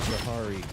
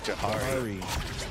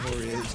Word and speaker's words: Jahari: His name is pronounced Jahari. Jahari. Apologies. Yeah, it's not Jahori, it's Jahari.